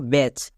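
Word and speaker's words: batch: করব একই রকম ভাবে মানে সি এইচ এর আগে টি থাকলে টি এর উচ্চারণ হয় না টি টা সাইলেন্ট যেমন দেখো ব্যাচ এখানে সব এর শেষে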